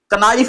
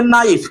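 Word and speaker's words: knife: के एन आई ई एफ कनाइफ लिखा है लेकिन पढ़ेंगे नाइफ क्योंकि के का हो जाएगा साइलेंट।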